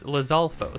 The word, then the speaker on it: Lizalfos: um blizzard lizard Falls lizard false lizalfos no it's lizalfos there is no D in it I don't think anyways